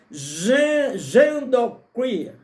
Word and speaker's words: genderqueer: Por outro lado, os pais devem ter cuidado a respeito das novas distorções da sexualidade, como a teoria genderqueer, ok? Essa é a pronúncia, é uma palavra americana, uma palavra em inglês, não é?